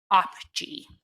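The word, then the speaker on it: OPGEE: Oil Production Greenhouse Gas Emissions Estimator Model, or OPGE, and that's spelled O-P-G-E-E.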